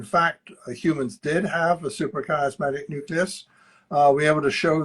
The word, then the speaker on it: suprachiasmatic nucleus: Um, okay, early in your career, you led this team and you located, pronounce that for me, suprachiasmatic nucleus. Is that Very correct? good. Yes, No, suprachiasmatic nucleus.